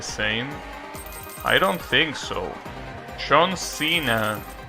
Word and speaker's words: Senna: Senna, that's how you pronounce it.